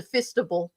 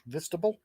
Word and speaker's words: fistable: If he finds the time to do the show, we'll change it to fistable just for him. Vistable? Okay. Fistable, like FIST.